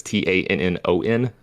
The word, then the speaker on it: Tannon: It's spelled phonetically, but it's Tannon.